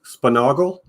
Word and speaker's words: Sponaugle: It's pronounced Sponaugle, I think. Sponaugle, yeah. It wasn't here at the start when we covered that. But thanks for stopping by, my man. Yeah, but see, I say Sponaugle, but my dad says